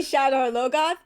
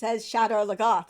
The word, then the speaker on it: Shadar Logoth: There's two different ways to pronounce it. No, because I said no. I said that so forcefully. I say Shadar Logoth, but the show says Shadar Logoth, so it's like make up your mind.